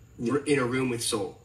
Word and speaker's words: Seoul: Is it Seoul? Yeah, like soul.